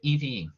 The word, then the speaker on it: Yves: Now, my name is Yves, Y-V-E-S, so I don't think I've pronounced, but it's silent S, and it sounds like Evie. So it's French.